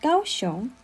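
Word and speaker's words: 高雄: is also a form of chinese characters is pronounced gaoshon okay enough about gaoshon let's get back to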